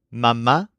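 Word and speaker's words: mamá: Mom and Dad are mama and papa with an accent mark on the last a in each casee Mama and Papa for example my dad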